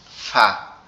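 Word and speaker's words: فاء: বা এই দুই ফা। আমাদের উপরে দুই দাঁত। এই নিচের ঠোঁটের পেটের সঙ্গে লাগবে। লেগে উচ্চারিত হবে ফা ফা ফা ফা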